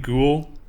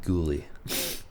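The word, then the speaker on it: Guhle: there for sure Caden ghoul a potential like monster on the blue line but I believe it's pronounced ghoulie cool cool it's not cool that's why people roasting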